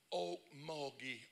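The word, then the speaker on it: Okmulgee: am pastoring you won't even know how to pronounce it oak moggy Oklahoma population 17,800 people 25 miles south of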